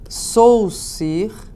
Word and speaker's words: Saussure: tem um cara chamado Ferdinand de Saussure, na verdade se escreve assim, né, porque ele é suíço, que trabalhou pela primeira